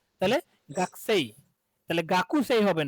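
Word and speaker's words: 学生: গাকু গাকু সেই সেই, কিন্তু হয়ে যাবে সেই কি? গাকসেই, কি হয়ে যাবে? গাকসেই। সেই তাহলে যে কুয়ের উটা হচ্ছে ডিভয়েস হয়ে গেছে, ওই যে আমরা পড়লাম যে ডিভয়েস হয়ে গেল, এখানে ডিভয়েসিং রুলস অ্যাপ্লাই হয়েছে।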